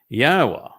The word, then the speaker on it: Yahowah: read behold pay attention yahwa ywa is the proper pronunciation of yahwah's name as elah God as